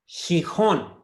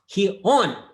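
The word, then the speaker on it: Gijón: Gijon. No, wrong. Gijon. It's even if I go with the Asturian one, which is X, I think it's Xixo. Gijon.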